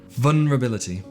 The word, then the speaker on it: vulnerability: um two things one i find it really hard to say that word properly i really have to focus on not saying vulnerable oh fudge vulnerability it's a silent l the second thing is